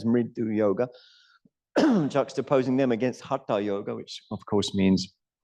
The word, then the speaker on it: hatha: That's just an anglicized word. It's not actually a Sanskrit word. There is no tha in the Sanskrit alphabet.